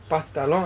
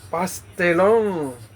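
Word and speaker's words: pastelón: And the correct way to say it is not patal past patalon. I think I was saying pastalong, it's pastelong.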